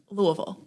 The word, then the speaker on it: Louisville: do you say it louisville like a mouthful of marbles that's how i always